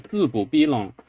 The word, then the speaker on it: 字不逼浪: So instead of doing 字不逼浪, it shunts the mid-tone one syllable over, and instead this becomes a low tone, 字不逼浪.